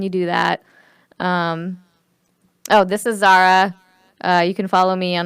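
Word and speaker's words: Zahra: This is Zara.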